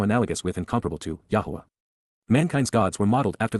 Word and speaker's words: Yahowah: achievements even miraculous fulfillments Yahwa Yahwa the proper pronunciation of the name of Eloha God as directed in his Torah teaching regarding his higher